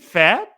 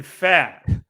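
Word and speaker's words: Pfaadt: Wicks against Brandon I I believe the pren is it is it fat I believe so yes Brandon fat uh and the Diamondbacks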